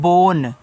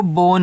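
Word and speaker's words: bone: बी ओ एन ई इसको पढ़ते हैं बोन। तो देखो बी से ब ओ से ओ की मात्रा बो एन से आपका ना लास्ट वाले इ का उच्चारण हम नहीं करते हैं। तो ये आपका देखो बोन हो गया और बोन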